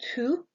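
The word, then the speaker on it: Thoth: So you can pronounce this by saying tooth, kind of like the teeth in your mouth. Tooth.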